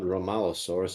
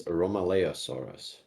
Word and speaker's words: Romaleosaurus: And number two, it's not Romalosaurus, it's Romaleosaurus.